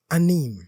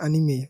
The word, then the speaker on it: anime: not just cartoon now anim specifically do you watch anim yeah I do watch anime okay sorry it's pronounced anime oh my goodness June